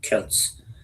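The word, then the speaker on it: Celts: I would say also Selts sometimes pronounced Kelts uh also had this sense of of nation.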